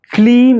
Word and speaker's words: கிளீம்: கிளீம் என்கின்ற மந்திரத்தை கே எல் இ M clean இக்